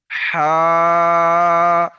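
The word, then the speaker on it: ح: হা আমার সঙ্গে বলেন হা বড় হা। একটা হাওয়া বেরিয়ে আসবে। গলার থেকে উচ্চারণ হবে।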